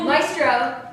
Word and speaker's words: Maestro: Maestro is actually how you pronounce it, is more of a